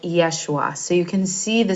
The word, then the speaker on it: Yeshua: time of Jesus um Jesus would have been pronounced something like Yeshua so you can see